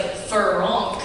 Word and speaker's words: Farrenc: like Frank it's like Fon it like ends in the back of your throat it's f a r